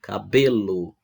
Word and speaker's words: cabelo: Essa palavra aí para a gente classificar, ela seria uma palavra paroxítona, né? Porque ela tem a penúltima sílaba mais forte, né? Cabelo.